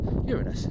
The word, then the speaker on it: Uranus: However, I've learned as an adult that the Greek god, after whom the planet is named, is in Greek called Uranus, which to a Western ear sounds much closer to Uranus than to Uranus. So that's why I now say Uranus.